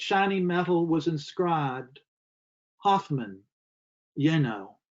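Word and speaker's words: Jenő: metal was inscribed hoffmann yenno j-e-n-o the j is silent against my palm the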